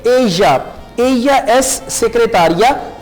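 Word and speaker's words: ella: ओ या फिर एया, आप इसे प्रोनाउंस करेंगे एया.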